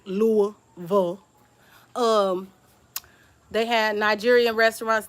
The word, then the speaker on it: Louisville: There's a in the Highlands they call it in Louisville, and say it right, Louisville.